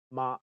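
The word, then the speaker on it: 媽: In Cantonese, mother is ma and horse is ma.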